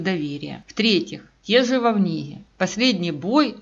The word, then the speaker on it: Вовниги: И даже мое родное село Вовниги, которое не все в Солонянском районе всегда правильно проговаривают, а он произносит четко «Вовниги», а не «Волнига» или «Вовниг».